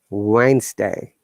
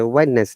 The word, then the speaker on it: Wednesday: and g for examples wednesday we don't say whiteness that yeah so many people say it but remember that's wrong sound then cage yes rule